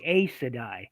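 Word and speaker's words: Aes Sedai: speaking of pronunciations, believe it or not, lots of people will pronounce things like I say I Sedai. Some people will say a Sedai.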